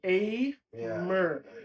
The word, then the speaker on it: Aymer: So like Aymer. Yeah, like So people could actually like pronounce it correctly.